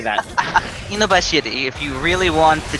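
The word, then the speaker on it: 犬走: Inubashiri, if you really want the Japanese pronunciation.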